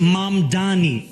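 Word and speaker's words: Mamdani: And furthermore, the name is Mam Dani. M A M D A N I. You should learn how to say it because we got to get it right.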